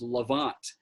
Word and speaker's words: Levant: ever heard it's called the way you pronounce it is levant l-e-v-a-n-t and it essentially